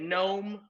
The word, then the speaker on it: gnome: is silent all right now we look at gnome okay we know that the g is silent we look at wrist our wrists right